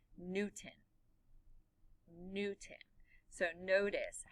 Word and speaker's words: Newton: And Newton is spelled N-E-W-T-O-W-N. But when I'm sorry, there's no W. N-E-W-T-O-N. But when I say it, Newton, you don't hear that T.